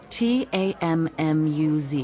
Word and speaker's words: Tammuz: where do I find them his name is tamuse to what t-a-m-m-u-z it's pronounced tammuz maybe if you show me your